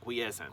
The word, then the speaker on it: quiescent: Quiescent. Say quiescent. I'm going to tell them, be a little bit quiescent. Quiescent. And it's spelled Q-U-I-E-S-C-E-N-T, quiescent.